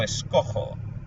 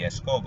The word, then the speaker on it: escojo: And the reason is, if you leave the letter G, it turns into a hard G sound in front of an O, and it would be escogo or fingo, and you don't want those sounds.